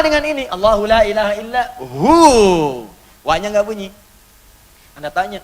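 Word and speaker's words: هو: Hu. Singkatan dari hua. Hu itu singkatan dari hua. Hua begini. Karena kalau kita wakaf dalam bacaan hua, wya enggak dibaca. Bacanya hu.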